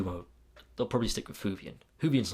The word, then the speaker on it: Whovian: Doctor Who fan, or Whovian, I guess, which, fun fact, I actually used to call it Hooverine when I was younger, because I couldn't pronounce it properly.